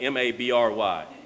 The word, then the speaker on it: Mabry: That's spelled M-A-B-R-Y. Ryan? Here's the bar. It goes here. And here's the second award, the life-saving award, with the ball. And that's Ryan Mabry, he told me, not Mabry.